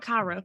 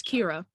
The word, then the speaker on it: Kira: My name is not Kyra, by the way. It's Kira.